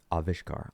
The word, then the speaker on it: Avishkar: We discussed the pros and cons of each of the candidate names and worked through their pronunciations, meanings, and connotations. Together, we selected, how do you say this again? Avishkar.